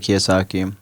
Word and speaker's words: Kiyosaki: few actually but I would say inspiring Robert Kiyosaki okay I may have his um pronounce his name but no you got it